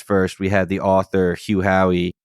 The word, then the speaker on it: Hugh Howey: We had the author Hugh Howey, correct? I'm not pronouncing.